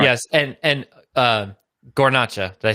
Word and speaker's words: Guarnaccia: Yes, and Guarnaccia.